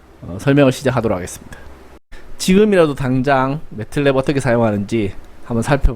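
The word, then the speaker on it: MATLAB: 그러면서도 좀 알려주시기 바랍니다 어쨌든 제가 알기로는 매틀랩 이라고 발음을 하고 어찌되었건 이 이름은 이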